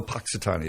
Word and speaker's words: Punxsutawney: Oh, Punxsutawney. There you go. How do you pronounce Powhatan or that?